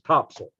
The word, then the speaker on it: Topsail: in Topsail Beach uh spell top sell local pronounces Topsail you don't pronounced cell they call it soul